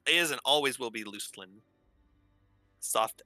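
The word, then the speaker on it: Luclin: Other people pronounce it Lucklin, by the way. That is incorrect. It is Luceland.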